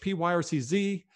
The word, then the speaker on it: Pyrcz: My name is Pyrcz, P-Y-R-C-Z. It's pronounced Pyrcz. If you say it just like Pyrcz, then you're doing as well as we are.